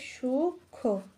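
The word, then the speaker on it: সূক্ষ্ম: এর উচ্চারণ ম টা এই যে ম ফলা রয়েছে তার উচ্চারণ হবে না তাহলে এখানে উচ্চারণটা হবে সুখ তারপরে হতে পারে যক্ষা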